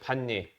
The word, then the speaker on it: 반례: 반례예. 아,이 발음이 이게 아니죠. 반례라고 하나요? 반례. 반례.